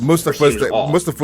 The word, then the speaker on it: Mustafa: But Mustafa is actually the correct pronunciation.